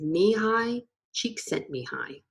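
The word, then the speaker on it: Mihaly Csikszentmihalyi: with a unique name if you've seen or read the book flow and wondered how the author's name is pronounced here you go it is me hi cheek sent me hi the key to entering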